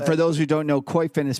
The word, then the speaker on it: Koyfin: So I wanted to start off first, just go to Koifin's website.